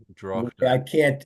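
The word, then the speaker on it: droghte: I don't know how you're pronouncing that, Lloyd, but You know, the, well, you the pronounce the GH, so it's yeah, Drochte.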